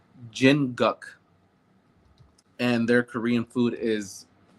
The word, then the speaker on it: Jinguk: It's called Jinguk, and their Korean food is, I think, some of the best that I've had. How do you Uh, spell that? I believe it's Jin Uh-huh. Guk Jin Cook.